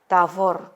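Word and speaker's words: תבור: Tavor, 2 suku kata karena akhiran ini huruf mati, ya close syllable, ya, nama gunung.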